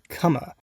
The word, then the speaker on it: Comer: puzzler inspired by the likes of mist called kama yes that's how you pronounce it and kama's basically been lost to